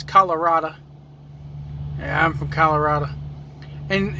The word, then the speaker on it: Colorado: you're uh if you're from colorado you don't pronounce first off it's not colorado it's colorada yeah i'm from colorado and and you don't